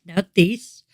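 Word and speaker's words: Nauthiz: And the general info on this one is the divinity is schooled, N as in now, and it says, pronounce the rune, Nautis.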